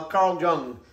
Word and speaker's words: Jung: that's for from uh carl jung or carl young i think they pronounce it carl young so he's a smart